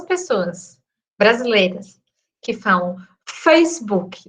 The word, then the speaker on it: Facebook: Primeiro que a gente pronuncia esse K como um QI, né? Um que, e não um k. Porque, em tese, a pronúncia é Facebook. Tá vendo? É um casinho, assim, bem... E a tônica é o fá. O fê, no caso, né?